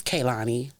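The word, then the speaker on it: Kehlani: it right you know I was like Kanani this Kanani that they like it's k Lonnie I was they laughed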